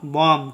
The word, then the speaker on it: bomb: बी जो होता है वह एम के बाद और टी के पहले साइलेंट होता है वर्ड में। ठीक है, तो देखिए BOMB का उच्चारण हम लोग बॉम्ब नहीं करेंगे, BOMB का उच्चारण करेंगे बॉम्ब। ठीक है, इसका उच्चारण होगा बॉम्ब।